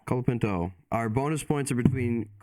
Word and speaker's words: Colapinto: so how do I say his name again colapinto colapinto our bonus points are between colapinto and beer